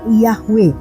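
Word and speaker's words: Yahweh: berasal dari bahasa Ibrani disebut yhwh membacanya Ia hwe yang artinya adalah Tuhan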